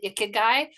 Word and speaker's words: ikigai: And I come always back to the ikigai, which I know Karu has, like, she corrected my pronunciation as a Japanese word.